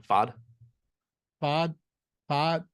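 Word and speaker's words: Pfaadt: pronounce it uh yeah fod fod yeah if you ignore the p and the T it sounds less weird yeah which is tough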